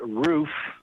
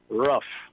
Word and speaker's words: roof: While in this city in Texas, we pronounce it roof, I've lived in parts of the country where they pronounce it rough. Oh, yeah. Rough. And it drives me crazy.